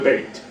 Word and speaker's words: Beit: Bayit, when it's combined with the word David, changes the pronunciation from bayit to Beit.